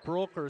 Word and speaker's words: Brecker: foul called on brecker they're pronouncing it broker so we'll do the same it's been a seven